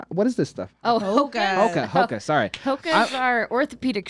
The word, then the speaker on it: Hoka: Haka supporter. What is Haka? Hoka? What is this stuff? Oh, Hoka.